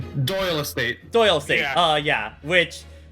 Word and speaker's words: Doyle: In Japan, he is public domain, but he is owned by the Doily estate? Is that how it's pronounced? Doyle Estate.